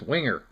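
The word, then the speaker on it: Wenger: to find out exactly how their name is pronounced and it is winger the reason for it is and i didn't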